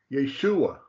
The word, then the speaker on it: Yeshua: letter Yeshua gazuntai okay the second one there is pronounced Yeshua Yeshua but underneath the yud